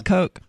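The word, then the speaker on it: Koch: coke brothers hook brothers it is coke yeah like cocaine I mean it's not spelled like cocaine coke but okay but basically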